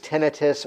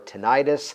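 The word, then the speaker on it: tinnitus: in a related category depending on the pronunciation sometimes referred to as tenius or tentis a ringing or actually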